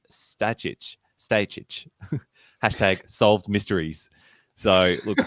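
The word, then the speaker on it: Stajić: to correctly pronounce Alan Stage's name on Australian TV the way he wants. Note his reaction. He's a great guy. Everyone knows as Stag, but the surname pronunciation guide is Stajic.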